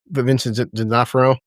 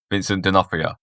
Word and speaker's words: Vincent D'Onofrio: Vincent D'Onofrio. Vincent D'Onofrio.